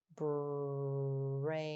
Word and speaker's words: brain: The I is silent, but it helps A say its name. A. Let's tap our sounds. B, R, A, N. Good. Now let's tap and stretch our sounds together. Brain.